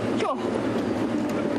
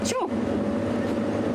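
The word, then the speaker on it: sjoe: Sure.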